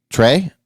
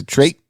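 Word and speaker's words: Triet: Director uh Justine uh Trey is that how you say it or trait sounds like trait yeah yeah I didn't know the te was silent anatomy of a fall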